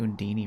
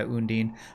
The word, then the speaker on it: Undine: Oh, I thought they pronounced it Undini for some reason, but yeah, Undine.